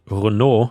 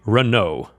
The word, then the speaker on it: Renault: And by the way, I think in Europe we would pronounce it Renault, which is the French way, but I suppose in American English you would say Renault.